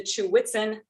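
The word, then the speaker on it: Ch'weghtsen: Okay, so that led to the Chew-Witzen method. I'll describe where the word came from in a moment, but that is how you pronounce it.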